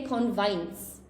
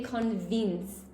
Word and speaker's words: convince: Please, guys, especially if you're a Spanish speaker, we don't say convince, okay? We say convince.